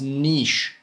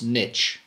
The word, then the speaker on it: niche: about niching down and it is not pronounced Niche bro it's niche you guys may have